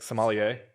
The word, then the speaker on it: sommelier: Like sommelier? Yeah, sommelier.